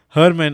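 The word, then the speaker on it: Germán: joined the conversation so Herman I I was I I was pronouncing the G as German like you know how we pronounce in English German but I realized that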